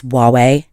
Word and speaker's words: Huawei: the woman comes over and she says it's Huawei and I was like oh oh God okay